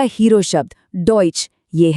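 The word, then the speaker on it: Deutsch: और आखिर में हमारा आज का हीरो शब्द डोइच यह है डॉइच बहुत बढ़िया और देखिए इन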